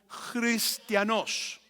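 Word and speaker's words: χριστιανός: el griego sería como Entonces si lo fueras a pronunciar sería como cristianos Sería más o menos como ser cristianos y Qué significa cristiano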